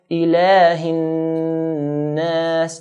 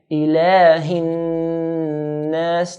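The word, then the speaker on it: إِلَٰهِ النَّاس: So we're going to stretch the lam to 2 counts. Ilahin nas. Again, Ilahin nas. Now you repeat after me. Ilahin nas.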